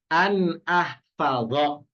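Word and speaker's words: an ahfadha: Nah, kalau kita lihat di sini ahfadu adalah fi'il mudhari yang didahului an, maka bacanya bukan ahfadu domah lagi, enggak, tapi dhonya berubah jadi fathah karena kemasukan an. Jadinya an ahfadho gitu ya, an ahfadho.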